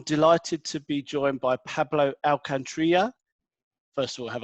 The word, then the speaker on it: Pablo Alcantarilla: insider today I'm delighted to be joined by Pablo our country yeah first of all have I pronounced that correctly yep good good start and